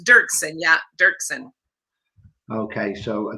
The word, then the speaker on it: Doerksen: wrong i know right it's dirksen a lot of people say dorkson but it's dirksen yeah dirksen okay so